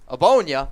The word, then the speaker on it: Ogbonnia: pick of defensive tackle Otito Ogbonnia. That's how you pronounce it. G's silent.